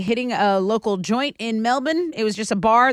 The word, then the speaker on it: Melbourne: It's Melbourne. It's got an R in it.